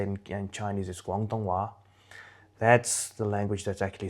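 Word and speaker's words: 广东话: Cantonese, or how you say it in Chinese, is Guangdonghua.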